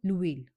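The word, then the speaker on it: l'huile: This is called the लुइल, द लुइल, क्योंकि एच की जो साउंड है वो फ्रेंच में नहीं आती, pronunciation is silent for एच।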